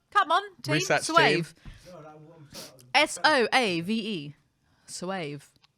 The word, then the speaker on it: Soave: plummy virgins who'd only come for the free Soave.